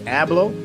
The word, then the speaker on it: Abloh: So if you don't know Virgil, I believe how you pronounce it is Abloh, Virgil Abloh, who is the mastermind behind the Off-White.